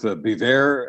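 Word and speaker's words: Biewer: They're both Bever, and it's spelled the B-I-E-W-E-R.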